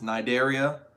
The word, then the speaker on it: Cnidaria: heard of this one, is Nidaria. It is spelled C-N-I-D-A-R-I-A.